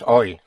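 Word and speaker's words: hoy: Today is oi. Oi. Spelled h o y oi.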